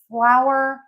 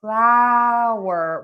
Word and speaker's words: flower: So for flower, we're going to open and move our mouth a lot.